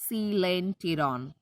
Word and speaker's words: coelenteron: यहाँ पे वो साइलेंट हो जाएगा. Pronunciation is coelenteron.